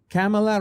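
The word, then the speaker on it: Kamala: it's in the second is it the Camala Camala it's like that you just have to put the um on on on caps Pamela camela rhymes with Pamela oh you you're okay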